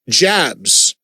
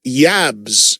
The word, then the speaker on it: Jabs: is their guitarist, Matthias, which say Matthias Jabs. Wrong. It's Matthias, and the last name is Yabs, is how it's pronounced, like with a Y, even though it's a J.